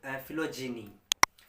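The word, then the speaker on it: philogyny: अगला शब्द दोस्तों आपको फिलोजेनी। फिलोजेनी, यहाँ पर GNEY क्या है दोस्तों, सॉरी GYNY, GYNY, फिलोजीनी। इसको जीनी प्रोनाउंस करोगे, गेनी नहीं, जीनी।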